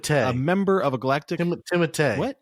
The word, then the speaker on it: Timothée: star-studded cast that includes Timothée Chalamet, Oscar Isaac, Rebecca Ferguson, Zendaya, and Jason Momoa, to name a very select few. Dune follows Paul Atreides, a member of a galactic... Timothée. What? Timothée? Not Timothy.